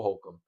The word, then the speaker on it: Holcomb: And you obviously got, I think this is Cole Holcomb. I didn't want to say his name wrong. Cole Holcomb.